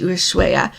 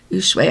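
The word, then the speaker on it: Ushuaia: in Argentina down to ushuaya ushue I think is how you say it when we were there that's what it sounded like how people said it and that is where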